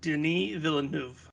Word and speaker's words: Denis Villeneuve: directed by he is french canadian that is pronounced denis villeneuve who also directed um like blade runner 2049